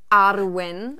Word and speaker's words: Arwen: Arwen kommt nicht nur aus Herr der Ringe, sondern ist ein walisischer Name und wird Arwen ausgesprochen, also mit einem U. Und mit einem rollenden R.